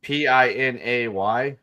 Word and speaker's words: Pinay: Wait, which P-I-N-A-Y?